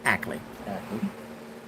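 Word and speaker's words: Akeley: uh talk to Ackley Ackley a-k-e-l-e-y but it's pronounced Ackley he's he's the one that goes there most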